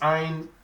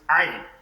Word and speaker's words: عين: It's one of the letters we pronounce from the throat. So when pronouncing this, we call it Ain. Ain.